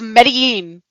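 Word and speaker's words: Medellín: the city of one of the countries, it's Medellin. Medellin. Oh, Medellin. yeah. Medellin. Medellin. Oh, yeah. Medellin. You can't. Instead of Medellin, it's Medellin.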